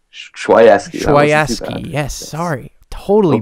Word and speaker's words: Chwaiewsky: Chwaiewsky? Chwaiewsky. Yes, sorry. Totally butchered that.